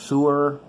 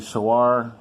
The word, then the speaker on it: Sewor: about my so our yes I've heard it pronounced sewer online it's actually so are the only thing I don't like about this